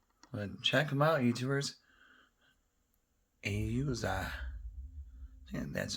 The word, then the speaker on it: AUZAI: AUZAI. Yeah, that's how you pronounce it, but super lightweight.